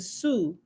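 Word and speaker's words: T'Su: He standeth betwixt us and the all light, to sue, or sue with the T quiet. To sue is spelled T like T'Challa. T apostrophe S-U. I just say Sue.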